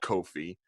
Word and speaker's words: Kofi: little bit older now and so is uh Coffee Kingston actually you would just say he's just coffee now right kofi non coffee coffee coffee Kofi Kofi Casas wasn't racist and hold up coffee I'm